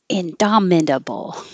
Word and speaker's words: indomitable: without the T intermediate indomitable indomitable it sounds like more syllables than it looks like indomitable indomitable and dominable